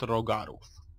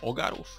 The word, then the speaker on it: Rhogarów: I to jest właśnie alternatywny świat rogarów A może ogarów cholera Jest a więc jeszcze ciche H tak tak myślę to mówi czyli taka której się nie wymawia ale po prostu Paweł